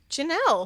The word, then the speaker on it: Ginelle: Uh number one, we're going to thank I think your name is Ginelle. Ginelle, but it's spelled g i n e l l e.